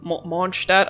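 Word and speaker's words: Mondstadt: Monstad. I tried to pronounce it German. I am German, but uh saying Monstead for years because the game is slandering the name like that.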